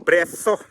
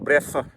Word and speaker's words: brezo: Sabagay ang pronounce nila dito ay brezo. Sa Espanyol kasi ganun ang mag-pronounce nila, brezo. May mga yung sa dila nyo ba, parang sa Bisaya pa pinayungit na maka-pronounce na brezo. Dito yung pronounce ng mga Espanyol ay brezo.